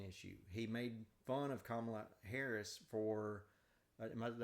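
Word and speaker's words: Kamala: He made fun of Kamla Harris for am I did I say her name right? Kamla.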